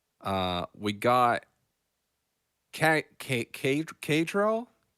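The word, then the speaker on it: Caedrel: Uh we got Ka Ka Kadril. C Ae D R E L. Krill I believe is probably how it's pronounced.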